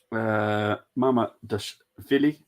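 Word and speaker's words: Mamardashvili: Mama Dashvili, ain't it? Yep. I think that's how you'd say, but I'm just gonna stick with Marmadude. You said it right.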